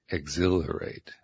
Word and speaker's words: exhilarate: Anticipate, exhilarate. Okay, we're getting so... Exhilarate. Yeah, that's the way it feels to me. Anticipate, exhilarate. So emphasis on the second syllable.